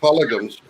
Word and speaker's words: pogroms: and they were just a continuation of the Jewish pogroms, as that's how it's pronounced, that had been racking Europe for over 500 years.